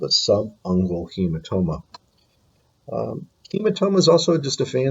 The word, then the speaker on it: subungual: Okay, the first one over on the left-hand side, this is pronounced subungual.